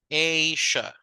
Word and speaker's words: Asia: The highest mountain in the world is Mount Everest in Asia. So how do we pronounce this continent? Is Asia. The long sound of the A, right? Asia, something like this. So it's a long sound.